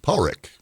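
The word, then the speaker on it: Padraic: the interview that that it's pronounced in Scotland Paul Rick which was a moment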